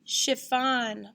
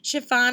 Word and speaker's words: chiffon: come they're back on chiffon is like a soft material often made with dance recital costumes and fancy dresses so in these words what is this represented with a ch again a ch again that's